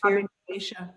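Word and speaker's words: Abhiniveśa: Yeah, when you were talking about Abhinavesya, am I saying it right? Abhinavesya.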